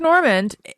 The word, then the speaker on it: Normand: hilarious yeah my purse is a drunk mark normand and by the way do you pronounce the d no such as mark norman it's a french name and some people give